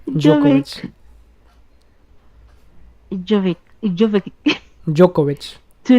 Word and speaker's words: Djokovic: D is silent. Djokovic.